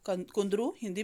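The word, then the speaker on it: कुंदरूः: संस्कृत में इसके पीछे र के पीछे जो उ की मात्रा है उसके आगे दो विसर्ग लग जाते हैं।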